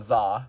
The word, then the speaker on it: Xa: The Krana Za, Mask of Strategy. The Krana Za, Mask of Telepathy. Yeah, so there are 2 called the Za. One spelled XA, one spelled ZA. They're pronounced the same, which is terrible from a conversational standpoint.